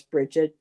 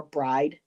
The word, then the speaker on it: Brigid: So she would tell us Bridget, Breed, or Bride as well.